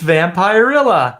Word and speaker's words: Vampirella: Vampirella Vampirella yes yeah I always want to say Vampirella it's vampire illa yeah so yeah so